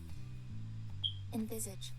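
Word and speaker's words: envisage: Invisage. Invisage. Invisage. Invisage. That's what that's what Google says it it's pronounced like.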